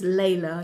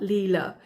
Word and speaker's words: Layla: The correct pronunciation is Layla, not Leela.